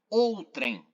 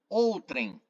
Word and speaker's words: outrem: fim importante ressaltar e fazer a correção pronúncia correta outrem outrem outro alguém ou trem continuemos na relação com